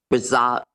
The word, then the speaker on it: Braz: was the resignation of Ralph braz no is that how you pronounce it yes and um we do